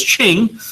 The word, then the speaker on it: Qing: first name is uh pronounced Ching but is spelled q i n g so it's one of those things where I gets a lot of people probably right they say you are you king or queen but it's